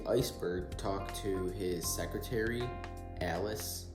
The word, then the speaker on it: Alice: talk to his secretary Alice or they say it's pronounced Alish or something and she is seemingly